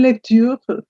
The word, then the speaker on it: lecture: Bonne lecture.